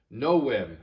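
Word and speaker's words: novem: is octo number nine no whim remember this is the latin letter w and it does not make the v sound it makes the sound so this is no whim and no m means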